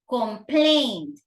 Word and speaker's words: complaint: with a complaint okay complaint stress on the second s okay Complaint Form we